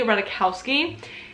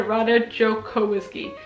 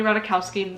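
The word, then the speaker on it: Ratajkowski: how I pronounced it Jaden taught me how to pronounce her last name Emily rowski and I can't believe that I pronounced it R jsky that's embarrassing anyways this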